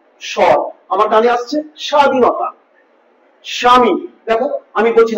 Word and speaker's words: স্বামী: স্বামী বা স্বাধীনতা এই যে স্বাধীনতা স্বামী দেখ স্বামী স্বাধীনতা তাহলে এই যে বটা উচ্চারিত হচ্ছে মনে হচ্ছে বয় একেবারে খন্ড একটু সর আমার কানে আসছে স্বাধীনতা স্বামী দেখো আমি বলছি না ব আনতে পারছি না